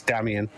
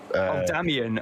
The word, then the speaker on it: Damien: Talking of pronunciations, Damien is the organizer. It's Damien. Damien.